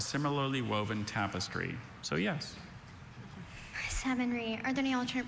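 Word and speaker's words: savonnerie: Savonry. Are there any alternate pronunciations?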